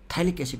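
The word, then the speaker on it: phthalic acid: या फिर इसी का नाम बेटा, इसी को हम थैलिक एसिड भी बोलते हैं। पी साइलेंट होता है, थैलिक एसिड, समझ रहे हो? थैलिक एसिड, थैलिक एसिड भी बोलते हैं हम इसको, थैलिक एसिड भी।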